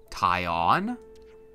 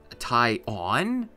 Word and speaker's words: Tyon: Well, you know, there's that subtle pause in between the first and second syllable of the name, so I mean, Tyon?